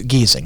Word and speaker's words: Giesing: my name is is geezing so Murphy geezing right it's G then there's an i and an e right the first vowel is silent and you pronounce the next vowel so when you said